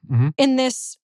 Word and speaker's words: Bonanno: Yeah, Bonanno.